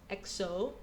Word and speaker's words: EXO: So, EXO, pronounced EXO, is a South Korean Chinese boy band based in Soul, performed in as entertainment.